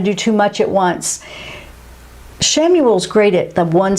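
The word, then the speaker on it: Chamuel: ariel and we have samuel that is spelled c-h-a-m-u-e-l the way now let's move on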